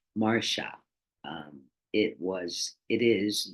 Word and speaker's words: Marcia: the other two episodes my mother's intention was that my name be pronounced Marsha um it was it